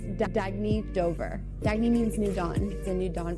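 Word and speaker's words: Dagne: good you can live life intentionally oh it's pronounced dagy do dagy means new dawn it's a new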